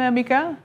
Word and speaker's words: Mika: i hope i got it right in the pronunciation welcome gentlemen thank you very much how do i say your name mika i love yeah just correct perfect okay so